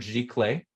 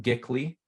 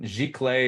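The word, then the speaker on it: giclée: So when I say the word gic clay and not gly or I don't I've heard a lot. I don't even know anymore. But jic clay is technically how you say it.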